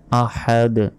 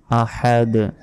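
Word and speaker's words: أَحَدٌ: পড়তে হবে হু আল্লাহু আহাদ আহাদ শেষে ধাক্কা দিতে হবে আহাদ কুলহু আল্লাহু আহাদ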